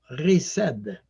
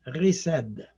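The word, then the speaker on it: חסד: associé avec cette idée et l'amour c'est l'amour riced je sais c'est écrit h est-ce à dire mais à ça se prononce riced et ce monde c'est un moine hébreu qui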